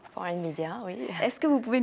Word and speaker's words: 4n Media: nom de votre business c'est foreign media ça se prononce comme ça foreign media oui est-ce que vous